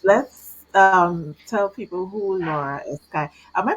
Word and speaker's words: Escayg: let's tell people who Laura Escagy. Am I pronouncing the last name right correctly? Yeah, Escagy.